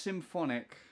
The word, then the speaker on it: symphonic: The word is pronounced symphonic like sim sim like simple and also the word phonic.